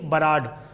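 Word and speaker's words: Burrard: हो given by Sydney बराड एक बंदा था उसने यह रिवीजन दिया था Sydney B यू आर ए D spelling होती है बोलते बराड है व बी यू आर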